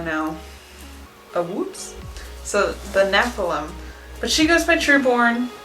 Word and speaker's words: Nephilim: out how that's pronounced okay here we go Nephilim okay Nephilim so I pronounced it wrong that is what we know know the woods so the Nephilim but she goes picture born because she thinks